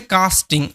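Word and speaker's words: casting: এটার উচ্চারণ হচ্ছে কাস্টিং, ওকে, AST আস্ট সাউন্ড হবে।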